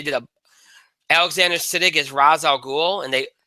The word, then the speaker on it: Ra's al Ghul: a Alexander siddig is Ra's al Ghul and they I should say raised our globes they actually did the pronunciation right um was much more